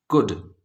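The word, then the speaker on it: could: और एच दोनों silent कुड इसमें हमें एल का साउंड नहीं आ रहा है एल से बनता है ला जो हम नहीं सुन पा रहे हैं सी ओ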